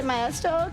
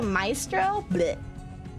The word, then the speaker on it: maestro: Also, don't say meestro closer to maestro.